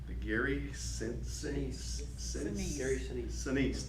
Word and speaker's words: Sinise: Sinise, that's how you say it, Sinise.